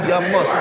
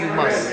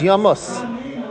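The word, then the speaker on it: ימות: First time it says it, it's me Yamos, not me you must. It's spelled the same way over here. No. Ain't done you must. This is Yamos. This one's Yamos. Yud Mem Vav Saf, not Yud Vav Mem Saf.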